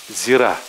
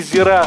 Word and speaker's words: зира: Обязательно ударение ставьте на последний слог, когда вы пойдете на рынок. Если вы скажете не зира, а зира, то, скорее всего, продавцы угадают, что вы ничего не понимаете в этой специи и продадут вам корм для канареек.